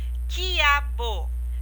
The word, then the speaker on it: quiabo: um exemplo de um dígrafo com que o quiabo quiabo eu não pronuncia a letra u agora eu vou dar